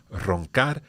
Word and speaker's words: roncar: So, for example, roncar, we've got two different R's in there, a first R and then the R at the end. So the R at the end, we've covered that already. That's R1. But this R2, the connection here is obviously that these R's are at the start of a word.